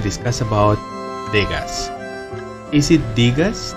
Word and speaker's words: Degas: about Vegas is it digas Degas but I happen to hear his name mentioned in the chapter story they actually pronounce it as dega my code name is so it's silent yes apparently the name